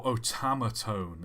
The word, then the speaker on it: otamatone: posting their favorite songs oh otamatone is how it's pronounced sorry I guess that